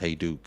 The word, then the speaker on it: Hajduk: How would I know it's pronounced Hajduk?